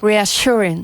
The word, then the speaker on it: reassuring: A little bit more sh in the middle. Reassuring.